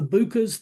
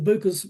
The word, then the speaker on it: BUCA: So, instead of buying coverage from one of the Bucas, the Bucas, that's spelled B U C A, and that stands for Blue Cross Blue Shield, United Healthcare, Cigna, and Aetna.